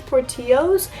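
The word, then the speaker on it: Portillo's: caught porty party owes these that's how you pronounce it forty O's and they have like the famous like Chicago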